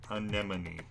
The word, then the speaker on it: anemone: May an anemone sees an enemy anemone, and please note that's pronounced anemone.